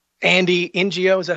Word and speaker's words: Ngo: It's not even safe for independent journalists to go places and report on the left. You know, whether it's Andy NGO, is that how you say his name?